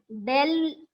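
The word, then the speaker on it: ∂: Del u by del x. This is what the pronunciation is, del u.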